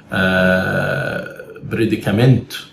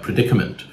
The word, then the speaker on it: predicament: Egyptian students, like, they might stress the wrong syllables, and they might say predicament or something like that when it's predicament.